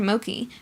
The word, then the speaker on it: Moki: and expressions of self-righteousness his name is Mr Moki pronounced so is to rhyme with okie dokie he likes to tell